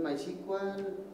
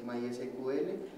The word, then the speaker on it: MySQL: Tiene entonces MySQL, no se dice así, MySQL.